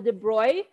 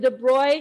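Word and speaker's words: de Broglie: not the broccoli equation this is not english it's pronounced differently so this is called the de broy kind of like they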